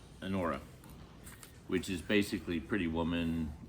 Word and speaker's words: Anora: I will bet you $20 on probably I want to pronounce it right. It's Anora, which is basically Pretty Woman, grittier, more real, and a lot less pleasant.